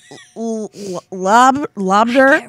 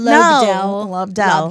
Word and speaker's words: Lobdell: Is it Lobder? Lobdell? And I'm like, Lobdell. Yeah, it's French.